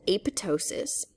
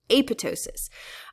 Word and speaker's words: apoptosis: by cell signaling and this process is called apotosis it's spelled apoptosis uh but the first p is actually silent it's pronounced AP sorry the second um p is silent it's pronounced apotosis um and apotosis is essentially programmed cell death